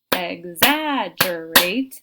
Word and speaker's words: exaggerate: Something like exaggerate, exaggerate. They should be able to hear in that second syllable we have the stress.